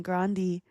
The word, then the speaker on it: Grande: She confirmed the original Italian pronunciation Grandi, though she often uses Grande.